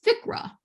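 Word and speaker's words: FCRA: these things nicknames so the nicknames of this one is ficra you just sort of pronounce all the letters together at once now i know there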